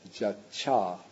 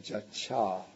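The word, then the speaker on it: jacca: The Ty turns into a double C. And so what results is jacha. And the long A doesn't remain because then the syllable becomes too heavy. So the long A gets shortened into the short A.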